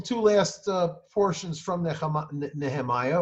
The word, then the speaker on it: Nehemiah: last uh portions from nehemiah or nehemiah that is as it is pronounced in hebrew uh there he nehemia